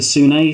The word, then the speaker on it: Sune: proper name is the sunei sometimes mispronounced soon but again you don't